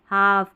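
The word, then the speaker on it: half: एलएफ में है ना इसमें भी एल साइलेंट है। हालफ कालफ नहीं हाफ काफ हाफ वे हाफ वे ठीक है इसमें एल साइलेंट है।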